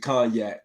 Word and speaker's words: cognac: a wine mixed with cognac so in this conjunct man you don't pronounce the g man it's cognac the g is solid